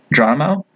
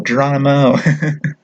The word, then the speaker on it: Geronimo: Geronimo. Okay, and Alice. Yeah, it's like a cannibal, Geronimo.